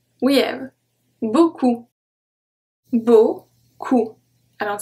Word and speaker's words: beaucoup: We have beaucoup.